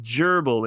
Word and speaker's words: gerbil: Which sounds like gerbil in English. If gerbil were pronounced with a hard G sound.